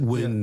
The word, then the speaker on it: Nguyen: Alex Ocha, and George Nguyen. How you pronounce it, Chris? It's a Vietnamese name. Nguyen. Win is the closest, yeah.